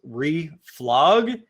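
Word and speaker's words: reflog: I've actually heard it pronounced relog and I'm like, yeah, that's interesting.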